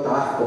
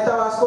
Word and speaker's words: Tabasco: Tabasco, yo soy tabasqueño, yo sí pronuncio la S. Bueno, a veces se me va, la verdad, mi mujer me critica porque a veces platicando con tabasqueño se me va y digo Tabasco, pero bueno, o tabasqueño.